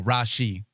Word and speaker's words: Rashee: No, Rashee.